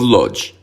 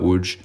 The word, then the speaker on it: Łódź: city the city of Lodge or locally pronounced ask most polls about wuj and they'll probably know